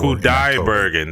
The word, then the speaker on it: Kudaibergen: Kudaibergen, that's how you say it.